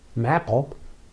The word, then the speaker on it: MAPL: MAPL, as we pronounce it, is a program designed to help